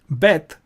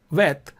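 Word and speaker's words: ב: So this would be bet, and without a dot is pronounced vet.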